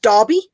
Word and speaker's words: Derby: The E would be classed as an A. Okay. Derbyshire. So we wouldn't say Derby, we would say Derby. For us in UK, we would pronounce it just Derby.